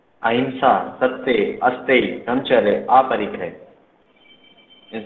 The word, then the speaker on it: अहिंसा: बात की जाती है अहिंसा। इसको अहिंसा भी पढ़ा जाता है और अहिंसा भी पढ़ा जाता है। प्रोनाउंसिएशन ना का जो बिंदी का है वो ना और मा दोनों आते हैं।